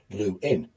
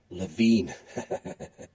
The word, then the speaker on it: Lewin: And a few years after moving to America, Lewin began asking people to pronounce his name as Blue-in rather than Levine, because the misspelling, it was said, of his name by Americans had led to many missed phone calls.